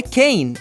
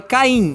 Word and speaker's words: Caine: Em inglês é Cain e em português é Caim.